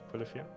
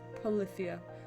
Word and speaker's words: Polyphia: The band, Polyphia? Polyphia? Am I saying that wrong? No, you're saying it wrong. Polyphia.